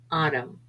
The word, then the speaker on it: autumn: o-u-l-d could would should n is often silent after m for example damn him autumn p is sometimes silent